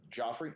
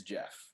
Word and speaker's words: Geoff: Or they'll say my name, Joffrey, it's Geoff. Are you named after someone?